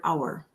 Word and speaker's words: hour: silent this is going to be the word hour like there are 60 minutes in an hour our H is silent so that was kind of hard this